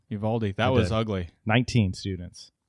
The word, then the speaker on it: Uvalde: Uvalde.